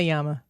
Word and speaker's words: llama: it says drama Llama Or in Spanish it says drama Yama it does you pronounced that correctly good job we don't